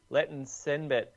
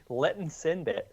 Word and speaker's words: Letesenbet: All right, so the International Fair Play Award went to Letesenbet. Letesenbet. Or just Gidey. Gidey. Letesenbet. Has anyone actually read her name out before? Letesenbet, isn't it? Yeah. You're chucking an extra syllable in there.